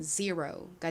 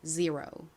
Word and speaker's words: zero: 이 단어의 실제 미국식 원어 발음은 제로랑 조금 다릅니다. 가장 앞 Z는 진동이 들어간 지읒 소리, Z 소리가 나고요. E는 에, 어, 이 소리 중 이 소리에 가까운 소리가 납니다. 그리고 R은 리을 소리 나고요. O는 오 소리 나요. 그래서 연결하면 zero가 되죠.